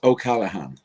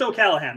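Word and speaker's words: O'Callaghan: screw it up okay I'll pronounce it for you it's ok Callahan so it's just OK Calahan that is perfect kalahan yeah but funny enough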